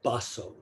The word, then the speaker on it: Baso: early chinese zen master pronounced in japanese baso quote the way needs